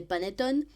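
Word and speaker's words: panettone: Noël attention à l'orthographe donc le mot c'est paneton mais qui s'écrit P a n e t o n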